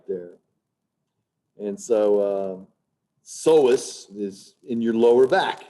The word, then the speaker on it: psoas: And the word psoas, the P is silent. It's not psoas, psoas.